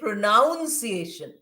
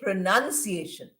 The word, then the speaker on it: pronunciation: When we use it as a verb, we say pronounce. Spelling is the same. Pronunciation and pronounce. The first part is spelled exactly the same. But we don't say pronuniation, we say pronunciation.